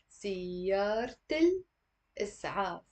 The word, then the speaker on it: سيارة الإسعاف: But also in a more spontaneous way, instead of saying سيارة الإسعاف as in 6 syllables, you can say سيارة الإسعاف. سيارة الإسعاف. Always do the liaison, okay? Whenever you have the L.